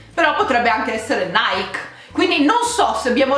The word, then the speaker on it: Nike: prego scrivetemi se voi avete mai pronunciato mai chi non lo avete sempre pronunciato mike perché io non ho mai sentito nessun appunto se non gli americani pronunciarlo mikey ma sembra che effettivamente si pronunci proprio così dai kit da oggi i ragazzi dobbiamo sforzarci a dire nike ma non per non pronuncio americana quanto per la pronuncia greca ragazzi se c'è qualcuno